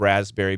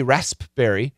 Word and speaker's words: raspberry: like the spelling of raspberry because there's a silent letter the spelling is r a s p b e r r y but the p is silent never say the P never say raspberry never it's always raspberry